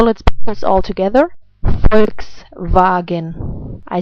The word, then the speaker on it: Volkswagen: Volkswagen. I say it again. Volkswagen.